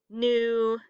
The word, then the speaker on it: knew: So all of the words this week that sound like they start with an N, like knee, knock, knew, no, knuckle, all of those have a silent K at the front.